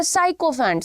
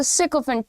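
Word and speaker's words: sycophant: सिकोफेंट, इसको बहुत सारे लोग बोलते हैं साइकोफेंट. साइकोफेंट नहीं है, इट्स अ सिकोफेंट.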